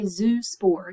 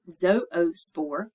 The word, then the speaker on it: zoospore: Spore with a flagellum that's the prefix zoo and that's how you say it you don't say zoospore you say zoospore um that just means